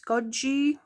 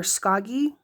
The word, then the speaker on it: Schoggi: And this particular zenangle, I believe it's either pronounced scoji, like in Italian we would say scoji or or skoggy. I'm not sure, but it's October 2025, day 14.